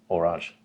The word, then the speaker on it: Horage: yeah and it's pronounced wash so alright so it's a silent H yeah like doublet okay